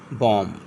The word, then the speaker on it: bomb: अगर किसी वर्ड में बी एम के बाद आता है तो ज्यादातर बी साइलेंट होता है। Example B ओ एम बी बॉम एल ए एम बी